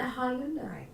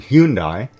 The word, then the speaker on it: Hyundai: The Hundai. Hyundai. Hyundai. Yeah. Whatever you call it. It's was it's Well, it's it's actually Hyundai is the correct pronunciation to a Korean.